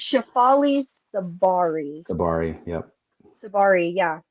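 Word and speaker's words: Tsabary: Shafali Tasbari, is that correct? I think it's Shafali Sabari. Sabari. Yep. Sabari. Yeah. The T is silent.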